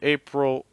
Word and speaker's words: April: you say that's crazy it's it's April April April there's also April April short I April April don't I wouldn't even think about as a short I I would focus on just that dark out just that old I I know I know